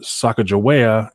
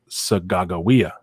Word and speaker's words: Sacagawea: the spring and uh sacagawea is actually pronounced sagagawia which means bird woman in hidatsa and saka joaya was